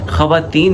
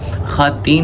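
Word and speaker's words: خواتین: ख़वातीन नहीं होता, ख़ातीन होता है, ठीक है।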